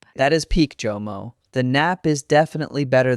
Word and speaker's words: JOMO: Mistake number four, the pronunciation of JOMO, not YOMO, not HOMO. Hard J, JOMO, JOMO.